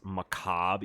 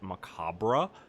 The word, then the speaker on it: macabre: me off because it's macabre you don't pronounce the re it's not macabre and it just when